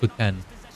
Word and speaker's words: poutine: That's what most people call it, but it's actually, its origins are French, and it's, I believe, pronounced poutine. But yeah, poutine.